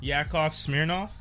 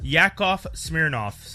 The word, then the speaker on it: Yakov Smirnoff: he was always there he said yakov smirnoff y-a-k-o-v and then smearing off the way it's spelled and he's okay he's